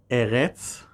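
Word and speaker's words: אֶרֶץ: The two are pronounced only marginally differently, Eretz versus Aretz, and they are actually two forms of the same word.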